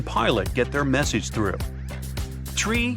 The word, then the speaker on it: tree: It's the way pilots pronounce certain numbers in their pilot English. Tree stands for three. Five for five and niner is used instead of nine. Such pronunciation helps to avoid radio miscommunications and the confusion caused by similar sounding numbers.